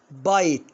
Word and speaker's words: bite: يعني غرامه ها هنا اقولها بيت لا طبعا بايت يعني يلدغ او يقرص